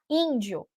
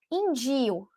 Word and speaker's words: índio: A palavra era índio, tá? E o meu filho lia indio. Indio. Ele colocava a sílaba forte no di. Então, ficava indio.